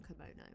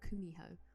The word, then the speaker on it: Kumiho: say her name kimono it's not komono it's like kumiho or something like that she just turns into